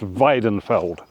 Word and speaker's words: Weinfelder: This one is called Weinfelder, or that's probably more accurately pronounced Weidenfeld.